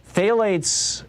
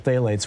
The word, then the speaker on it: phthalates: around for a while phthalates is interestingly spelled with a ph uh but phthalates are